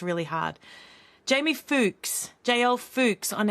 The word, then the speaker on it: Fuchs: Jamie Fuchs, JL Fuchs on X. Lying, and it rhymes with runt. Lying, runt with a C at the front.